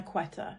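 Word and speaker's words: Quetta: It's a very beautiful looking mountainous place, but they do pronounce the Q as a qua. So they're queta, not keta, but it's the exact same spelling.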